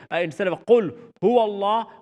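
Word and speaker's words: قل: You don't want to say, instead of qul hu Allah, you don't want to say kul with a kaf.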